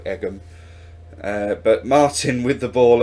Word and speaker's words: Egham: away with the ball I'm pretty sure it's pronounced Ejim I can't imagine a town being called Egham but Martin with the